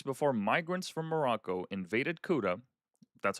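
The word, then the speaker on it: Ceuta: Two weeks before migrants from Morocco invaded Cuda, that's how you pronounce it.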